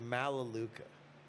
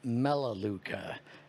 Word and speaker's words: Melaleuca: are you familiar with malaluka no and so i tell him funny enough i am familiar with malaluka that's i i've always heard it pronounced melaleuca and i only know